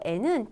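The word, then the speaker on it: へ: 좀 지리학과 말씀을 드리면 이 조사는 발음이 원래 가해져 그쵸 해 라고 있는데 조사로 쓰일 때만 발음이 에 라고 되죠 그러니까 바꿔서 읽어볼까요 도서관에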